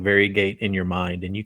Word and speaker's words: Variegate: clearly been mispronouncing it because i've been calling it varia gate which is definitely not how it's pronounced and you guys said it's more of varigate yeah it's more fairy gate and if we were